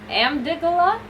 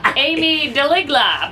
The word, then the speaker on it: amygdala: it's another one I don't know how to pronounce. Oh, this is great. I'm gonna say Amy amygdala. Oh, Amy. Yes, Amy. She's my favorte person. How do I pronounce that? Amygdala. Amygdala. Amy Deligla.